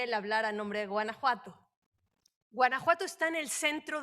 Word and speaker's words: Guanajuato: Sí, vamos a aclarar un poquito, es Guanajuato, pero yo sé que es complicada la pronunciación, no hay ningún problema. Muchas gracias. Me parece importante señalar, Guanajuato coincide en que los